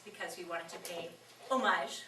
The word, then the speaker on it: homage: One of the reasons was because we wanted to pay homage, which is the French pronunciation, right?